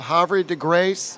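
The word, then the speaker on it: Havre de Grace: didn't in one of your hores I love hary deg Grace is that the correct pronunciation is that's that's right I love that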